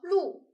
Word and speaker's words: 碌: 那第三个字读作碌，忙碌的碌，碌碌无为的碌。